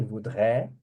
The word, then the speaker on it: voudrait: Então a pronúncia é a mesma. Je voudrais, il voudrait, elle voudrait, on voudrait.